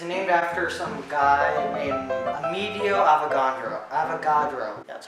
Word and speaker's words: Amedeo Avogadro: So the number is named after some guy named Amedeo Avogadro.